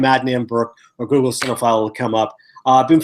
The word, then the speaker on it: Cinephile: He said, people are messing up the pronunciation. I said, well, if you're a cinephile, you would know how to spell it. But it is Cinephile, not with an F or Sine.